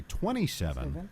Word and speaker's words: 27: additionally the runway name is pronounced with each digit separately runway 27 is actually called runway 2-7 sometimes however one or